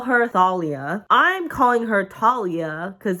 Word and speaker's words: Thalia: It was Talia. Thalia. They call her Thalia.